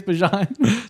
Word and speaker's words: Bijan: You can call me Bijan if you want, but really, it's Bijan."